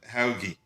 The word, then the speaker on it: Helgi: And Helgi Helgi, because we have one of our hosts here is called Helgi. I think he says it's pronounced Helgi. Helgi, I think Serbian.